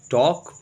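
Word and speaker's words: talk: वी हम लोग टॉक बातचीत करते हैं, TAL के टॉक पढ़ेंगे, L साइलेंट है।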